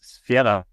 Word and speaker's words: Sphaera: It's Sphaera. Sphaera. Or Sphaera in English. Sphaera or Sphaera. We say Sphaera in German, and in English it's Sphaera.